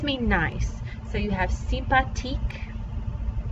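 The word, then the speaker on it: sympathique: nice so you have simpatique this th does not make the same sound in french it's just a t sound the h is silent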